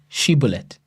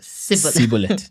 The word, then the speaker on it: Shibboleth: Then they said unto him, now say Shibboleth. And the guy says Sibboleth. You see, for he could not pronounce. He could not frame to pronounce it right, and they took him and slew him.